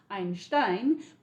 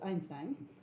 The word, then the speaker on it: Einstein: So instead what Einstein or the proper German pronunciation is Einstein but you know everybody in English says Einstein.